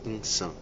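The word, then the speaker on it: إنسان: Homem árabe significa insan. É o nome que a gente utiliza, né? Pronúncia essa assim, insã.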